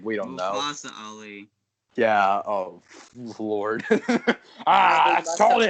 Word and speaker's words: Mustafa Ali: You said it wrong. It's Mustafa Ali.